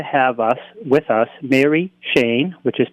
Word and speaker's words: Cheyne: are blessed to have us with us Mary Shane which is pronounced machine who sure is going to show